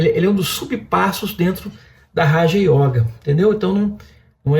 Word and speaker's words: yoga: letra A da palavra yoga é o nosso circunflexo. Não é. Aquele é um diagrama sânscrito que indica que ao pronunciar a palavra deve ser, a vogal deve ser alongada. Yoga, yoga, né?